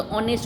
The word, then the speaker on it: honest: जैसे ऑनेस्ट में HONEST, तो आप लोग क्या बोलते हो? हॉनेस्ट नहीं बोलते, ऑनेस्ट बोलते हो.